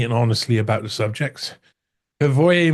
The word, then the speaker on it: Hrvoje: We would say in Croatian Hrvoje. Hrvoje is fine.